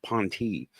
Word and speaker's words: P'NTI: Spelled, it's in the description right now, P''NTI, pronounced PON-tee.